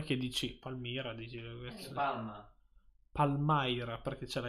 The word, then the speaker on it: Palmyra: Allora, questa qui è la pronuncia giusta di Palmaira.